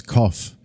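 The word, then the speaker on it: Qoph: minute but the Hebrew letter cough pronounced as cough means back of the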